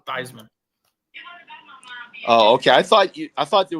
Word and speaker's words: Theismann: It was actually it's actually pronounced Theismann, but because he was in the Heisman running, he's like, yeah, pronounce it Theismann.